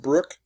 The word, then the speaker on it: Bruck: And interesting, his name's Donald Bruck, not Brook. It's pronounced Brook, but it's spelled B-R-U-C-K.